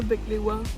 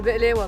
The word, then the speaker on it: بقلاوة: Un baklava. En fait ça dépend vraiment des pays. En Grèce c'était baklava. C'est Belewa, mais Inès ne sait pas prononcer.